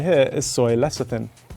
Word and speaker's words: lecithin: This one right here is soy lecithin. You've probably heard my Food Wars co-host Joe mispronounce this one a million times.